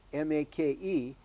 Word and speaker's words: make: And the word make, which looks like the word make, M-A-K-E, but it's actually pronounced make, which means what, Jack?